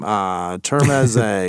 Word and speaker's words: Termeze: Termeze, because it's like Torme.